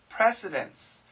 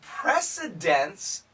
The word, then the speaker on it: precedence: has set records now be careful of the pronunciation because it sounds the same as nce precedence and precedence d nce means order